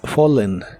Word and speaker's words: fallen: por las escaleras en el pasado participio es fallen la as se pronuncia como o y la doble l como